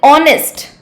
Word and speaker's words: honest: Same goes with honest. Honest. Why? Because in writing it begins with a consonant, but when we pronounce it, the sound of H is silent and the sound that